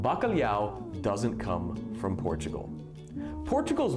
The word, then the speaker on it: bacalhau: The way we say the LH is very, very difficult for people who are not Portuguese. LH is pronounced le, and people just are unable to do that sound for some reason. Just le. That's it. It's bacalhau. So people are just unable